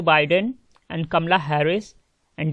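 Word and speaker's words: Biden: तो कई सारे लोग जो है जो बाइडेन को जो बिडेन बोलते हैं, तो बिडेन गलत प्रोनाउंसिएशन है, इसका सही होगा जो बाइडेन, और इसका आंसर भी जो बाइडेन होगा और कमला हैरिस।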